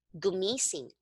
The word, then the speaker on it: gumising: Okay, so if you see here, you're going to place the stress on the second to the last syllable. Okay, Mhm, mhm. that's where the stress is, like gumising.